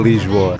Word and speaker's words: Lisboa: Lesboa não. Lisboa.